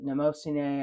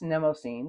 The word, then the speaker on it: Mnemosyne: the pen show in San Francisco how you pronounce it, and I heard people say "Mnemosyne." I've heard people say "Mnemosyne." I've looked it up on Google, and it says both. So, anyway, now it's Mnemosyne.